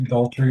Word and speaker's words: idolatry: All forms of Idolatry.